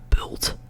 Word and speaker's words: bult: So, the singular u, in this case, it sounds like bult, and then double, it sounds like buurt, buurt, buurt.